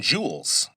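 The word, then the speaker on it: joule: Now, E is measured in jewels. Let me spell that because it sounds like J E W E L S, but it's based on an old scientist's name.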